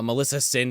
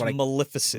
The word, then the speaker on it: Maleficent: Melissa Sin, or whatever the fuck the one from Sleeping Beauty is called. I can never say it right. That's Maleficent.